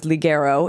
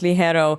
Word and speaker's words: Ligero: of the name I always thought it was liero it's it's with a g in the middle so I recently learned it's actually pronounced Le hero tell me a little bit about the name